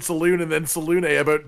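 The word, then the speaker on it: Selûne: What isn't connected and really confused me was how deeply different you pronounce the word saloon in the same sentence. It's Salune. That's what the characters say when they talk about it, right?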